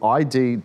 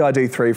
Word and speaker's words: ID.3: Volkswagen has announced the ID.3 GTX, which, I know it's a mouthful. The dot is silent.